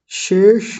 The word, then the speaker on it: शेष: शेष नाग या केवल शेष भी ले लेंगे वो भी ठीक है तो मूर्धन्य शकार है और उससे पहले तालव्य शकार है दोनों का उच्चारण ठीक होना चाहिए और बताइए कोई बताऊं